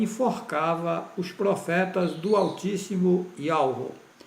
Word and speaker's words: Yahweh: A pronúncia verdadeira do nome do Altíssimo é Yahweh, e só esse nome salva.